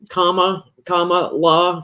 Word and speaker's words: Kamala: I love how they're writing things like comma la for Kamala to help people remember how to pronounce her name.